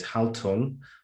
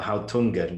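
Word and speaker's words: Haltung: it has two well there's two ways you can pronounce it there's hal tung or hao tungan which is german for attitude and posture posture yeah posture that's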